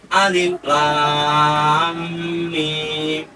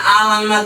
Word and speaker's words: Alif Lam Mim: Alif lam mim. Tidak bacanya alamat, tidak. Alif lam mim. Kalau tidak mengetahui ilmu tajwid, itu biasanya salah dalam membaca alamat, ya.